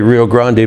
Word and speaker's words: Rio Grande: And you'll notice I say Rio Grande because we went through a big thing in Texas about 25 years ago where, hey, pronounce the words correctly.